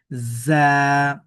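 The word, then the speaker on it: ز: র এরপরে দেখুন এই হরফটির নাম হচ্ছে যা যদিও এখানে ঝা লেখা হয়েছে মূলত ঝা না এটা হল যা জা সিন একটু শীষ হবে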